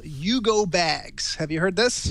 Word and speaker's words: UGO: It's called Yugo Bags. Have you heard this? No, like Yugo, like the car.